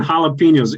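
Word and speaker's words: jalapeños: a mexican chili yeah it's spelled with a j but in spanish the j and the h are opposite so if you see uh jose a-j-o-s-e it's actually jose yeah so instead of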